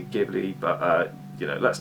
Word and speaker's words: Ghibli: They pronounce the Ghibli with a hard G. I say Ghibli, but you know, let's not split hairs.